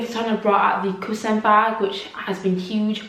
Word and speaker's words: croissant: I think in French you pronounce it croissant, and croissant means pillow, so it's a pillow bag essentially.